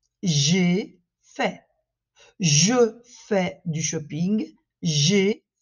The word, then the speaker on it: j'ai fait: Attention à la différence de prononciation entre le présent, je fais, et entre le passé, j'ai fait.